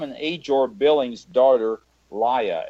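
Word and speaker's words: Lya: age or Billings daughter liya ly a is the way I'm pronouncing that ly up now her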